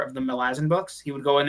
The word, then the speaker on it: Malazan: have gotten to read Malazan, or however the hell you pronounce it. Apparently Erickson doesn't really care how you pronounce it. Yeah. Though he calls it Malazan, I don't care.